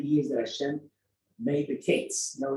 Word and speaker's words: kates: So the discount was the word called kates. Kates is spelled kuf tzadi. What's the matter? Kuf tzadi. Come on.